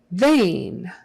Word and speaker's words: vein: teeth oh sample sample vein vein e i in this case is pronounced like a long a they vein vein vein